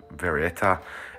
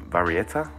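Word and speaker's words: Varietta: 20 det next is the varieta or very yeah varieta i guess is how you pronounce that uh this was a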